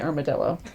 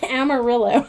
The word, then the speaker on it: Amarillo: Citra arello and Mosaic I always really want to say armadillo Amarillo I still said it wrong armadillo from amarill I really want to say armadillo and my brain just stops on it so Amarillo and Mosaic